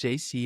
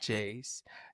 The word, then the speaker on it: JC: And then he said, "My name is pronounced JC and not Jayce.